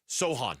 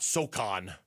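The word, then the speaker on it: Sochan: Jeremy Sohan. Sohan. You don't pronounce the C. No, not Soan. You don't pronounce C or Soon or however you've been saying it for the last three years.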